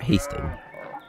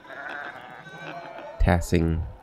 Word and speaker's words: Tassing: in outer Jason Hasting it's not Hasting yosting I know how to pronounce it tassing Roman ruins to get